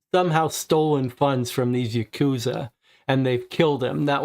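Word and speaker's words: ヤクザ: If the 3 cards drawn are 8, 9, and 3, pronounced Yakuza in Japanese, the sum is 20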